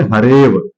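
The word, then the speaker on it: हरेऽव: जब हम इसको विच्छेदित करते हैं तब पढ़ेंगे हरे अव, हरे अव, ऐसे पढ़ेंगे हरेव, क्या पढ़ेंगे, हरेव।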